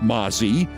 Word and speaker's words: Mazi: And her name is pronounced Mazi, but it's spelled M-A-Z-I. You know, like Nazi, but with an M.